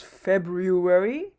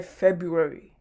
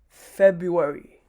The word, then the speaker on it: February: is uh february so the r in this case is actually silent so we don't usually pronounce it as february instead we say february february moving on we've got